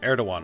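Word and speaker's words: Erdoğan: Erdogan, right. That's how you pronounce his name.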